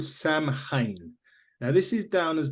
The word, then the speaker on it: Samhain: So it's kind of become associated with Halloween, particularly in America, but it's a pagan name, Samhain. Okay, I didn't know that, and I totally pronounced that name wrong.